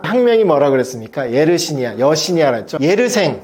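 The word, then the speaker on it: Yersin: 예르생, 프랑스니까 예르생이라고 읽는데 쓰면 또 스펠링으로 쓰면 같습니다.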